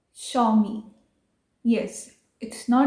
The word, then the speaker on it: Xiaomi: तो next company है Xiaomi। यस, इट्स नॉट Xiaomi।